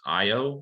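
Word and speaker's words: Ayo: It's Io, I think is how you pronounce her name.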